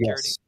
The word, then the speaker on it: Carradine: It gave me Kung Fu vibes, a la David Carradine. Is that how you say it? David Carradine? There you go. I remember Kung Fu with David Carradine.